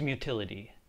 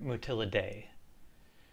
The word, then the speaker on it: Mutillidae: the first tool is mutility which rhymes with utility although you may also hear motila day utility is a deliberately